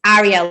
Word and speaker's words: Arielle: So if they say to me, hi Arielle, nice to meet you, I'll be like, oh, sorry, it's Arielle, like an apple. And they go, okay, fine. Yeah, okay, so Arielle, could you come over here?